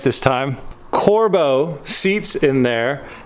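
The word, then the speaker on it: Corbeau: it right this time corbo seats in there it's not pronounced corbett or however i was saying it before it's corbo the brand the brand let me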